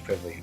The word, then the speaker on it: Kvavle: do I can't even speak now Dr quivy all right thank you again thanks all right